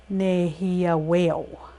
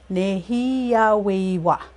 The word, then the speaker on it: nêhiyâwewin: So go back into this one, nêhiyâwewin. Nêhiyâweyu, you'll hear too, or nêhiyâwewin. So it depends on region, on how they pronounce it when they're referring to the fourth person.